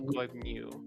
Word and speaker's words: Goibnu: Goibnu. Yeah, going new. Yeah, after Goibnu. yeah, after the end there's like a Y, but a really subtle Y. New. Oh, Goibnu.